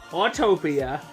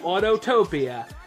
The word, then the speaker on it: Autopia: talk about this attraction I'm known to call it autopia or autotopia so if you hear me say autotopia I don't need to be told I'm saying it wrong it just sort of